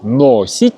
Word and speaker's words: носить: Мы пишем букву О – носить, но произносим, конечно, носить.